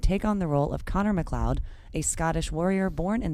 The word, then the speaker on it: Connor MacLeod: Okay, you screwed that up. It's Connor MacLeod of the Clan MacLeod.